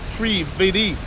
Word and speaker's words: Trivedi: Trivedi, pronounced Trivedi, with a soft D, actual Sanskrit.